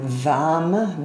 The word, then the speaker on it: Vam: And Vam, V, V-A-M, with a V is the sound, the one-syllable Sanskrit mantra sound.